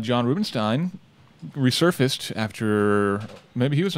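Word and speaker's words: Rubinstein: Is it Stein? It's Ein. That's really? Steen? Stein. I thought it was Rubenstein. It's E-I-N. So well, it can go either way. Germanic pronunciation would be Stein. I've been saying Steen.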